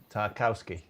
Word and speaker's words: Tarkowski: And it was a great battle between him and I can't hardly pronounce his name, the centre back, their captain. Tarkowski. Yeah, Tarkowski.